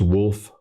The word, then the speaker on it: Wolfe: So it's wolf like wolf is like the my name is wolf like like the animal but there's a e at the end which is silent.